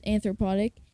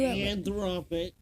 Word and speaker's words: Anthropic: Um that's anthropotic and Microsoft new anthropic.